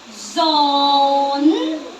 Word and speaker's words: zone: zong no no no zone zone silent e don't read the e z z o zone